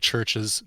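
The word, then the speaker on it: Chvrches: Oh, wait, you're talking about the band The band Churches. The one that spells with a V.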